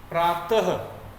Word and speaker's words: प्रातः: आ रहा है और उसका उच्चारण हल्का आधा ह हम बोलेंगे, ह व्यंजन की तरह होता है। तो इसे कैसे पढ़ेंगे? प्रातः बोल करके प्रातः।